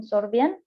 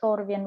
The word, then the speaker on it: Sorbian: from my own perspective it was presented in serbian not serbian the serbian the slavic language in spoken in germany yeah i don't know write pronunciation in english it's sorbian right uh so that language